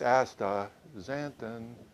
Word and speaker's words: astaxanthin: couldn't figure it out can but uh it's ASA zanton if you remember that it's real easy to